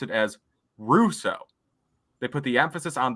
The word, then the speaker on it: Rousseau: So he said Russo, like Russo.